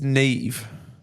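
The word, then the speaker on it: Neave: yeah sometime let's let's run it back it's Nave hi we're from England and we're having a debate about how you would pronounce my name spell NE e a v e ne e a v yeah Nave I would say Nave Nave is that an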